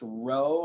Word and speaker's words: rho: And I know that still kind of looks like a P, but I think it's pronounced row. I'm going to put R-O-E. And it's a Greek letter.